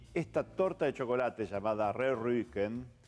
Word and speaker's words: Rehrücken: Y esta torta de chocolate llamada Rührücken, pronuncien la U como la U francesa, Rührücken, es uno de esos lingotes de torta de chocolate que son muy apreciados y es muy rico.